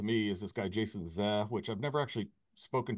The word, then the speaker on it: Zeh: One of the more interesting guys to me is this guy, Jason Zeh, which I've never actually spoken to him directly, so I'm not sure if you pronounce it Zeh, but it's Z-E-H.